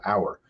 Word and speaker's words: Auour: spell it auo Ur but the name we pronounce it our it's because myself and my two partners all